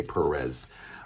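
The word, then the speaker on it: Pérez: I don't care if that's not how Spanish people pronounce it. I'm American. We say Perez.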